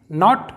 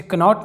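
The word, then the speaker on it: knot: अगला एग्जाम्पल देखते हैं, नॉट, इसे कनॉट नहीं नॉट पढ़ेंगे जिसका मतलब होता है गांठ, यानी कि गांठ बांधना।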